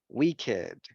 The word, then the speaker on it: wicked: Yes, en este caso lo vamos a pronunciar con esto, con it, aged, blessed, crooked, naked, wicked, and wretched. Con esto, con ed.